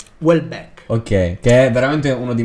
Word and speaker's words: Houellebecq: non lo pronuncia circa well and back e li tolgo il pensiero che dice di solito dico well and back poi non so come si pronuncia comunque quindi si pronuncia welbeck ok che durante uno